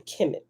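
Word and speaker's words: Kemet: but it's all talking about the same place chemic it's all pronounced the same chemic right no matter how it's spelled these ancient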